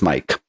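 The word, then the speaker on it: Maic: Yes, my name is spelled M-A-I-C and sounds as Mike.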